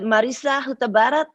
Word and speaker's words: Hutabarat: I know I pronounce my name very Americanized. I love it. To pronounce my name. But, living here for so many years, especially during the course of the campaign, I wanted to make sure that it was a little bit more phonetic and pronounceable for the public. But I know that I pronounced it a little bit off from what it truly is.